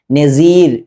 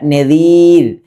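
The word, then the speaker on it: نذير: ദാലിന്റെ മേലെ പുള്ളിയുള്ള ദാലിന്റെ മഖ്റജ് നമ്മൾ നേരത്തെ ളാഇന്റെ മഖ്റജ് പറഞ്ഞതുപോലെ അതേ മഖ്റജിൽ തന്നെയാണ്. അഥവാ നാവിന്റെ ഈ അറ്റം മേലെ മുൻപല്ലിൽ മുട്ടിക്കുക. പല ആളുകളും എന്ന് ഉച്ചരിക്കുക. നസീർ എന്ന് ഉച്ചരിക്കുന്നത് കേൾക്കാം. അഊസു ബില്ലാഹി ഇങ്ങനെ ഓതുന്നത് കേൾക്കാം. എന്നാൽ ഇതാണ് യഥാർത്ഥ മഖ്റജ്. അഊദു. അതേപോലെ നദീർ എന്ന്.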